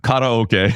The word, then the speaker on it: karaoke: I can't say karaoke, especially to you, but karaoke is how it's pronounced, folks.